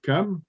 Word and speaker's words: Cham: Le CH se prononce K, donc Cam.